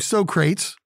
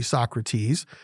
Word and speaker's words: Socrates: from a guy named socrates actually socrates but if you are a fan of bill and ted's excellent adventure like i am they pronounced it so crates but um socrates moaned